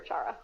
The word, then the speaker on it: Chara: I know that makes more sense to pronounce it that way, but I prefer Chara.